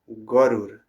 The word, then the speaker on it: Garuda: Then the Lord who is no different from the Sahasher Shir avatar got on the back of Gur. This is Bengali pronunciation. Garuda Gor who carried him from the Maduan forest to see his servant Dua.